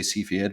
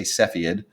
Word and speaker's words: Cepheid: be the Cepheid so I would say see Fiat but I say Cepheid stars so if you're in